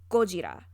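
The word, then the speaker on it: ゴジラ: young you say yo in japanese godzilla is pronounced gojira go is the word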